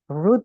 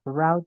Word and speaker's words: route: Time the other route nah ini teman-teman bacanya root boleh route juga boleh Nah nanti Kalau diartikan rute